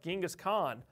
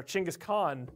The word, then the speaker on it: Genghis Khan: those interesting folks like Genghis Khan or Chinggis Khaan depending on how you want to pronounce it moving forward in history